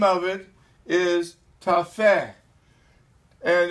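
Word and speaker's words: Tophet: verse of chapter 30 for Tafe that's what you pronounce it in Hebrew is ordained of all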